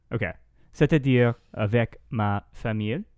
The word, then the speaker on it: famille: C'est-à-dire avec ma famille. Famille. It's like it rhymes with fille.